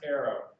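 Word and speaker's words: eero: o w it's spelled e-o-r-o or e-a-r-o-e-r-o is pronounced Arrow so I am familiar with arrow arrow is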